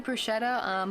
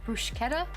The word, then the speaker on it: bruschetta: Oh, CH is K in Italian, okay.